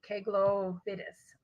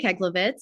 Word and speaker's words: Keglovitz: speaker is k glo fiddis i might still said it wrong thank you though for your help please correct me that's okay my name is keglovitz i'm the assistant principal